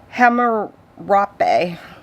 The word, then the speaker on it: Hammurabi: I'm going to be getting a copy of the Law of Harambe. I can't pronounce it right. Hammurabi.